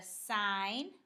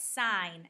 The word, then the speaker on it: sine: we'll start with sine sine is abbreviated s i n and you pronounce that sign not sin and the sine of